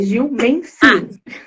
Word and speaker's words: Gil Menslin: Gil Meslin é a pronúncia certa? É o S, é som mudo, é Gil Meslin.